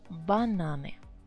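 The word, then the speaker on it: бананы: nasi what about banan a consonant right but two syllables so you keep the stress where it was banan banane bananas yeah of course wallace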